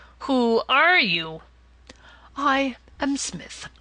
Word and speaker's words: Psmith: I am Smith, said the old atonian reverently. There is a preliminary P before the name. This, however, is silent like the tomb.